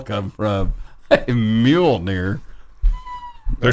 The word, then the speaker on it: Mjolnir: Come on, Mjolnir. Mjolnir. Where did the N come from and where did the L come from? Mjolnir.